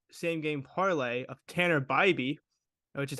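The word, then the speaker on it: Bibee: took uh all same game parlay of Tanner baby which is how you pronounce it fun fact there I don't care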